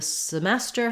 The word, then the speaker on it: semester: question about semester um the semester has stress on the second syllable um so the first